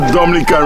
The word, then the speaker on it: Dominica: it is spelled d-o-m-i-n-i-c-e it is not Dominican Republic it is pronounced Dominica and is situated between